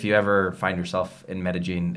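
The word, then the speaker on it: Medellín: No, that's how you say it. It's Medellin, not Medellin. Right, but you're like Medellin.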